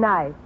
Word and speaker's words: knife: the word is nice k is the silent letter k is always silent in front of n is now will someone